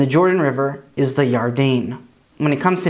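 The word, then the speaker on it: ירדן: jericho is and the jordan river is the yardain when it comes to names we have jacob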